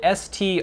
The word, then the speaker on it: Striegler: The I is lowercase and the E is silent. So is he saying Striegler? It's spelled S-T-R-I-E-G-L-E-R.